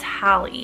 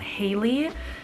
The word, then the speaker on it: Hallie: like the 2000s also I think her name is pronounced Hallie not Haley because I did mention